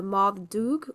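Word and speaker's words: Moddey Dhoo: In the aisle of man is the legend of the modu or the black dog in mans. Mans also styled phonetically the ma doo or mada.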